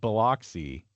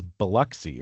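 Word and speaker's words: Biloxi: Now, now, now speaking of Bloxy, is the town I think the town is Beluxy, right? Yeah. That how they say it. Yeah, I said Bloxy because that's how I say things.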